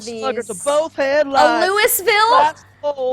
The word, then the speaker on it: Louisville: That is not how anybody says it. Louisville slugger. I'm not gonna say Louis because that's just It's annoying. Louisville. That's how you say it in the I'm not song. gonna say it, Louis. I'm not gonna say it like that. It's Louisville. No. Louisville, actually, probably.